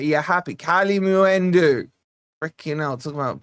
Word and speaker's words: Kalimuendo: Uh, the U is the moo. Kali Muendu. All right. You're happy. Kali Muendu.